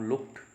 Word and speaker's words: looked: साथ में इसका उच्चारण जब लुक के साथ ईडी लगता है तो डैश साउंड प्रोड्यूस नहीं होती। ब्रिटिश रिसीव्ड प्रोनाउंसिएशन के अकॉर्डिंग हम इसको लुक्ड बोलेंगे। ईडी साउंड टे साउंड में ट्रांसफॉर्म हो जाएगी।